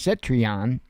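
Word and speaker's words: Citroën: Uh, Cet, uh, I I think it's pronounced Citrion, even though it doesn't look that way.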